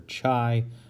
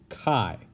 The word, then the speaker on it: chi: of you might want to say chi or chai but it is pronounced chi now this test the goodness of fit test